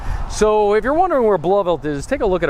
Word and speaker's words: Blauvelt: That's how it's pronounced, Blauvelt. Some people say Blauvelt, but that's not the case. It's Blauvelt, which is well, it's basically a hamlet in what is today Orangetown.